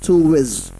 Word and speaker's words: Toolwiz: That's how you say it, Toolwiz.